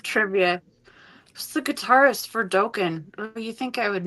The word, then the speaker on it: Dokken: Who's the guitarist for Dokken? Oh, you think I would know that? Dokken. Wait, it's not even Dokken. It's Dokken. I say it wrong too.